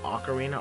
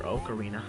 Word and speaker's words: Ocarina: it I don't know which way do you pronounce it like Ocarina or okarina I've always personally I pronounce it okarina but every once in